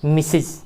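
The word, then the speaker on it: Mrs: इस तरह से लिखते हैं जब हम, तो यह मिसिज, इसका उच्चारण होता है मिसिज।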